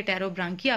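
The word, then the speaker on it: Pterobranchia: Worms कहते हैं, और दूसरी है टेरोब्रांकिया, पी साइलेंट है, जिसको आप कहते हैं ट्यूनिकेट्स।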